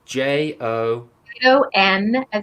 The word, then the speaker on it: Jonas: called Jonas Matapalo, and Jonas is spelled Jonas. Hang on. Yeah, I'm gonna spell it out because it's J-O. N as in Nancy, A as in Sam, and it's pronounced Jonas.